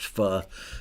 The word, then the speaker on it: Pho: It's technically pronounced Fu uh PH restaurants here in LA.